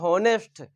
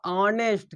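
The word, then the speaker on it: honest: यह लिखा हुआ है अगर आप इसे पढ़ रहे हैं नेस्ट तो आप गलती कर रहे हैं अगर आप ऐसे पढ़ रहे हैं नेस्ट क्या पढ़ रहे हैं नेस्ट तो आप इसे गलत पढ़ रहे हैं यह समझ के रखिए यह होता है आपका ऑनेस्ट क्या होता है ऑनेस्ट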